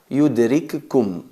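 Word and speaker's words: يدرككم: y la otra vocalizada, fusionamos la primera en la segunda y se convierte en una letra reduplicada, una letra con shadda. Yudrikkum se pronuncia, se recita yudrikkum.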